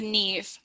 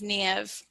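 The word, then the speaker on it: Niamh: No, it's pronounced Neve, or sometimes Niev.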